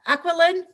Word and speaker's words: Aquiline: roger is with us uh roger with uh aqualynn drones did i say it properly yes she